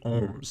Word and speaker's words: ohm: The variable for resistance is capital R, and the unit is capital omega, which we pronounce as ohm.